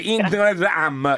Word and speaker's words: Noomray: si chiama marketing e si legge interet am che è marketing al contrario Ovviamente scrive n o